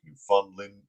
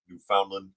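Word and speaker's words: Newfoundland: The governors are inviting the premieres of the Canadian provinces of New Brunswick, New Funland, New Foundland, New Finland, depends on your pronunciation. New Foundland, New Finland, and uh and Labrador, Nova Scotia, Ontario, Prince Edward Island, and Quebec or Quebec.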